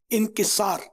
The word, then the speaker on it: انکسار: عام طور پہ انکسار ہی بولتے ہیں لیکن صحیح تلفظ جو ہے نا لفظ یہ انکسار، عجز و انکسار یا عاجزی و انکسار.